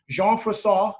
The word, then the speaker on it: Jean Froissart: And this sort of very popular historical book, Jean Froissart, I looked up how to pronounce his name, Chronicles.